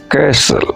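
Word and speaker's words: castle: The joints कैसल दैत्य किला joint माने दैत्य कैसल माने किला कैसल टी इसमें साइलेंट रहेगा उसका साउंड नहीं आएगा दैत्य का किला the Prince reached A joints कैसल राजा जो राजकुमार था।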